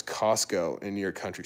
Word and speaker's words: Costco: me how to pronounce Costco in your country? So here's the thing. That T, if you have ST, but then you have like a K sound after, you can just 把那个 T 完全略掉.